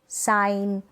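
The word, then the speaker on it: sign: जैसे कि डिज़ाइन, foreign, साइन, Nash, अलाइन। यहाँ पर जी जो है एन से पहले है, तो यहाँ पर इस जी को हम प्रोनाउंस नहीं करें, जी यहाँ पर साइलेंट है।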